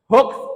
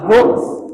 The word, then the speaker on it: hoaks: Contohnya adalah le beritane iki hoa atau hoaks? Kalian jawabnya bagaimana? Hoa ya bukan hoak. bacanya adalah hooks.